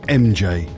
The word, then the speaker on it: R?MJ: It's spelled like this, but you actually pronounce it MJ for reasons.